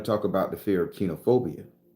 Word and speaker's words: koinophobia: So kenophobia is spelled koinophobia, but is the technical term is kenophobia.